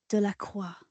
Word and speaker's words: Delacroix: I'm going to pronounce this again. Delacroix.